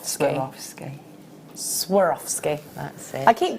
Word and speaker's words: Swarovski: show-offs let's say it Swarovski Swarovski that's what swear off Swarovski Swarovski that thing I